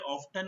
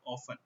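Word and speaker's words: often: यहाँ पे T silent होता है, ठीक है, तो इसलिए ऑफ्टन नहीं बोलेंगे, इसको हम क्या बोलेंगे, हाउ ऑफन।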